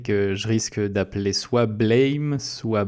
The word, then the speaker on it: Blame: je risque d'appeler soit Blame, soit Blâme. C'est un manga, donc de toute façon ça se prononce Buremu.